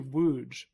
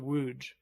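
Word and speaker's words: Łódź: That's actually Wuge is how you or something close to Wuge is how you pronounce that.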